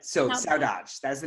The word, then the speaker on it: Saudade: point to make sure I know how to pronounce the title of your film, and it is Saudade. Saudade.